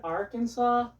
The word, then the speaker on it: Arkansas: If you live in Arkansas, you notice how I pronounce that state's name?